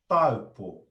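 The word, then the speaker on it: Taupō: So for the first bit, we've got are and 2, a and u. So our pronunciation of that first part of that place will be tau, yeah, a and u, tau, a, u, tau, yeah, tau. And then the last part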